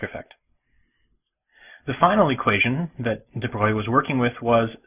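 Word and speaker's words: Broglie: I always thought his name was pronounced Deb Brogley, but it's well, he's French, so there's all sorts of weird pronunciations in French. Droy is my best guess at how it would probably be pronounced.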